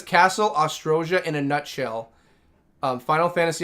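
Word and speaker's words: Oztroja: Castle Ojuria. Ostrosia, I should say. I keep saying it wrong. Castle Ostrosia.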